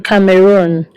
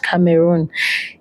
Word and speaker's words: Cameroon: So I traveled to Cameroon.